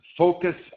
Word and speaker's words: focus: Notice, for example, in this sentence, focus on intonation. Notice that the U in focus is not pronounced.